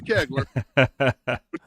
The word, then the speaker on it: Kegler: Yeah, it's and it's pronounced Kegler. His mama will call me. So, it is Kegler.